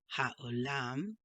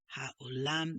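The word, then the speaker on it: העולם: Baruch atah Adonai Eloheinu Melech haolam, or should I say haolam, borei pri hagafen. Okay, I have a habit of pronouncing this as ch, when it's really ha, like in the word hope.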